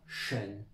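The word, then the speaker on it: 什: Donc SHI, ça donne la prononciation SHEN.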